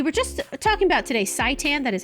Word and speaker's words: seitan: We were just talking about today seitan.